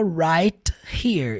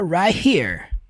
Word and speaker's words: right here: É só você perceber o jeito que ele fala right here. Ele não cita o T, fica right here.